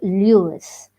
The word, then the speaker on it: Louis: balfour stevenson in 1850 he later changed lewis to louis but continue to pronounce it lewis he also dropped the